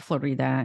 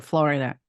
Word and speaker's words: Florida: you oh good example Florida a Russian people call it Florida good example yeah I understand what you mean like Florida yeah people from Eastern Europe usually call like Florida and it's actually Florida yeah yeah and oh